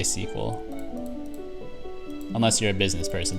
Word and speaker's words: SQL: where you say like you could say sql that's three syllables and then you had to say no sql only 13 sir oh there we go pro tip it's you say sequel and then people know oh this person knows what they're talking about